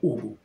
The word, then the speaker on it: Уху: сказочных существ джим сам себя называет уху с ударением на первом слоге и корабельные гномы про